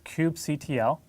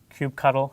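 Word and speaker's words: kubectl: we've got here is cube ctl cube cuddle i've heard different ways of pronouncing that but uh using that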